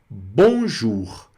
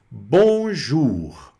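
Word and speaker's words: bonjour: francês é o famoso bonjur. Bonjur. Bonjur, que quer dizer olá ou bom dia. Vamos falar um pouquinho aqui também da pronúncia desse bonjur, né? Bom, o n fica on normal.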